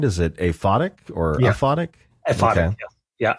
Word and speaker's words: aphotic: subtitled book of the and I think I'm pronouncing it right is it aphotic or aoic atic yeah aphotic okay well so I looked it up and